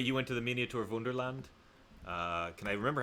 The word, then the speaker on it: Wunderland: Went to there's this place called Miniatur Wunderland in Hamburg, which is miniature Wonderland, but in German, pronounced like Wunderland.